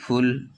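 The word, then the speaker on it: full: এখানে ইউর উচ্চারণ আ হচ্ছে না, এখানে ইউর উচ্চারণ ইউ হচ্ছে। যেমন পি ইউটি পুট, এফ U double L ফুল, পি ইউ ডবল এল পুল।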